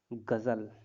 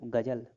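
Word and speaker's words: ग़ज़ल: ठीक, तो जैसे हिंदी में गजल, फिर गजल। ठीक है, तो बिंदु लगने से उच्चारण भी उसका अलग हो जाएगा, गजल, गजल।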